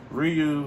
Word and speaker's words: Ryu: I finally found out what his name is pronounced Ryu have the skills to throw a hadoken and